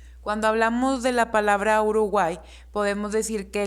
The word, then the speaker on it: Uruguay: Cuando hablamos de la palabra Uruguay, podemos decir que la Y se considera una vocal débil porque su pronunciación al momento de pronunciarlo suena como una I.